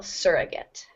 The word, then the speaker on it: surrogate: uh word surrogate surrogate so the stress falls on the first syllable surrogate a surrogate mother is